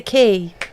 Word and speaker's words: quay: It's a key. No, it's a quay. It's a key. It's qu u a It's key.